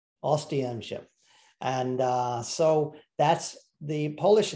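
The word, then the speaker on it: Oświęcim: Now, first order of business is that the Polish do not know this town as Auschwitz. That is a German name because the Germans could not pronounce the Polish name of this town.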